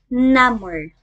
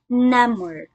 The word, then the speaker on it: number: sensation and functions as an adjective this is pronounced as namur number from the base word num a silent b letter again this is pronounced as namur let's use this in a sentence my feet